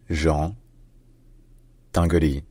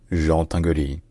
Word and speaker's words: Jean Tinguely: In French, his native language, his name is pronounced Jean Tinguely. Jean Tinguely.